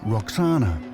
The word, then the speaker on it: Roxana: hint in her name the Greeks pronounced it Roxana but it may originally have been vakana which would mean she